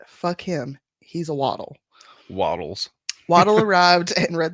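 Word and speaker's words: Waddell: to our other episode I am well aware it's probably pronounced wadell but him he's a waddle Waddles waddle arrived and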